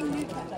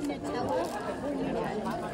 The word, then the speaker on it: Nutella: How do you say Nutella? Is it Nutella? I think it's Nutella. I'm gonna start playing Fortnite one or two games. Cause only for one reason. I think it's like Nutella.